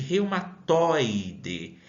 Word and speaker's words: reumatoide: Eu consigo mencionar esta palavra espontaneamente, reumatoide. Notem aí que ao pronunciar essa palavra, essa sílaba toi, ela saiu de uma forma aberta, com som aberto, diferente de que se tivesse um tio aí que possibilitasse uma nasalidade na palavra. E percebam que a sílaba mais forte, ela não está na última, e sim na penúltima sílaba.